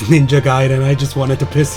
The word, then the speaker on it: Ninja Gaiden: Stop ninja gating me, Vince. And I know it's pronounced Ninja Gaiden, I just wanted to piss you off.